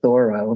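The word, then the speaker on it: Thoreau: I was in Massachusetts the correct pronunciation is thorough not the way a lot of uh people say the name of the writer author visionary but he wrote all about um being a person alone.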